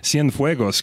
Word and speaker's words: Cienfuegos: I can figure out how to say this, Cienfuegos, Cuba.